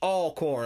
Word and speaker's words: Alcorn: more just for fun where is it spelled a l chord but i'm not gonna say it like that it's all corn i don't know where the w comes from but alcorn state university where is